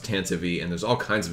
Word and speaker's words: Tantive: them say it because the Tantive is pronounced Tantivy and there's all kinds